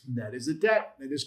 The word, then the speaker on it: tet: Is that a tat? That is a tet.